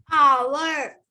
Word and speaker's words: hour: Hour. Yes, and R. Okay, so here it is H. It begins with the letter H, but here H is silent because it has a vowel sound.